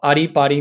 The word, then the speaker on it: Arrii Parrii: called ani body and it's spelled a double r double i and then p a double r double i which if you're armenian it means come dance so ari pari means come dance basically it's the best international